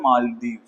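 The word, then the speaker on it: Malé: Indian tourism है व country है यहां पर मालदीव मालदीव ठीक है बेटा इसकी कैपिटल है माले ठीक है spelling M ए एल ई माले कौन सी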